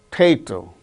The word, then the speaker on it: potato: Potato, potato, not a potato, potato. The second syllable gains stress: relation, relation, perhaps, perhaps.